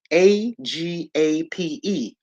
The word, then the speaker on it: agape: This love right here, the fourth type of love, is called agape, and they spell it agape, Agape, right?